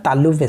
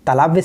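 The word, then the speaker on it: तालव्य: तालाबी सा आता है, तालुव्य सा, ठीक है। इसको कहते हैं तालाव्य सा नहीं कहते, तालुव्य सा कहते हैं, क्योंकि इसका उच्चारण तालु से होता है।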